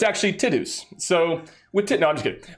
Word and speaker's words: Tidus: of a trauma, like I'm going to actually be the first to say his name correctly, Tidus.